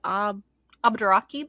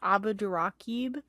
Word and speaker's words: Abdurraqib: Abdurraqib. Abdurraqib.